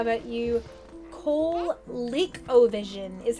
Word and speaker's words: ColecoVision: ColeCovision is how it's pronounced, though.